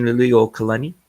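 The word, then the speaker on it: Liliʻuokalani: Queen Liliuokalani.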